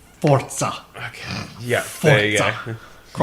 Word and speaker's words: Forza: It's pronounced Forza.